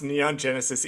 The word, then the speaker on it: Neon Genesis: Did you fucking mispronounce Neon Genesis Evangelion, the most famous anime of all time?